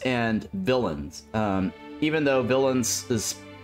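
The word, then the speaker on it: Villeins: bad guy right but it's pronounced similar to villain the bad guy but it's spelled differently uh so that game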